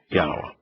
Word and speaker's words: Yah: in the Hebrew language one knows that yod wah which yah ascribes 7,000 times in his Torah prophets and Psalms is pronounced yah Adam then writes you